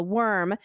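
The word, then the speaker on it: wyrm: she handled herself against the worm, now spelled W-Y-R-M.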